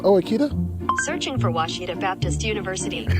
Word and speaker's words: Ouachita: Searching for Ouachita Baptist University. Back in Texas, everybody pronounces it Wichita, but really it's Ouachita. Ouachita. Ouachita. How would you pronounce it? Ouachita. Ouachita. It's Ouachita Baptist University.